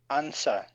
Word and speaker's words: answer: with an M whom then answer silent W answer that's it and Shores